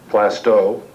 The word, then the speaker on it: Plaistow: learned in attending these meetings that the correct pronunciation is plasto some of you some of you may or